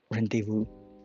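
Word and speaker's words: rendezvous: Rendevu rendevu. That is silent.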